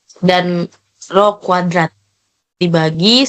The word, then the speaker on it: rho: Kalau yang tanda P itu dibacanya rho, kalau yang tanda kayak Y kebalik itu dibacanya lambda.